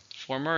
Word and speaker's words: former: Former is something that came before or something that happened earlier. It's an adjective. And how many syllables? Former. 2. Stress is on the first.